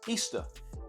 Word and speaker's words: Ishtar: Mother god Simamis Simamis became known as Ishtar, pronounced Easter, and her moon egg became Ishtar's egg.